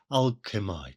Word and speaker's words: alchemy: Henley so as to scan and alchemy really ought to be pronounced strictly speaking as alchemite to make a perfect rhyme with I.